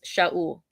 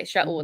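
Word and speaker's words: שָׁאוּל: But so Saul's name in Hebrew is Shaul. Okay, Shaul. That's how you pronounce it. There's not an S, or it's a SH sound.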